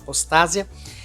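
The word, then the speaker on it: ἀποστασία: E lê-se apostasia mesmo, apostásia, né? Para ser mais precisa, a pronúncia correta seria mais ou menos essa, apostásia.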